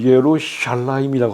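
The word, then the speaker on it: ירושלים: 여자 여왕입니다 여왕님 다니엘 3절 어 예루살렘을 히브리어는 예루샬라임이라고 합니다 샬라 임 샬라 임 음절이 됐고요이는 호크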